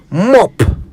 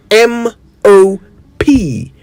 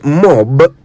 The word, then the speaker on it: mop: keep hearing people mispronounce mop m o p mop a simple enough word I would have thought yet it would Amaze you just how often people say it wrong it's not mob it's mop an instrument often made